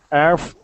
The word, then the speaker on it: Earth: that's much better okay before you were using more of an F sound saying Earth all right we want to say Earth okay we're going to